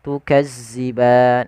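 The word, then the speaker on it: تُكَذِّبَانِ: Hati-hati di dalam hafal huruf zal, jangan sampai kita membacanya dengan bacaan huruf zai, tukadziban.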